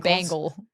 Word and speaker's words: Bengals: You say it like Bengals? A bangle, like a bracelet. Bangle? Yeah, like the Bengals.